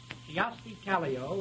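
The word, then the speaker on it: Kyösti Kallio: who is here in person to deliver it kioski caglio is a greek island a dictator of peru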